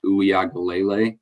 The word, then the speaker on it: Uiagalelei: They got a good quarterback and I'm probably going to butcher this, but I think it's pronounced Uiagalelei is how you say it.